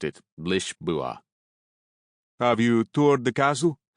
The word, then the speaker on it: Lisboa: He pronounced it Lisboa.